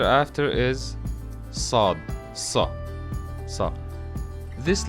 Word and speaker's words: ص: studied was Sheen and the letter after is sod so so this letter it's like in the